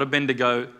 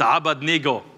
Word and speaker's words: Abednego: another in the fire instantly Shadrach Meshach and Abednego not a bendigo us white people have been saying it wrong or you white people have been saying it wrong for a very long time it's arbutny go all right everyone say how about Neagle actually